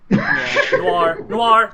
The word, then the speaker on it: noir: Why are you saying noir like an Australian saying no? I don't know. Noir.